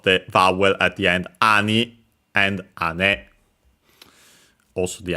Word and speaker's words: 兄: So it means uh uh other older brother uh it has uh the uh strictly Japanese uh reading ani accent on the first syllable, which is the one